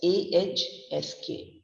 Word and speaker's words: ask: ASK. It's pronounced as AHSK. Ask. Ask. H and the S sound is coming from the throat.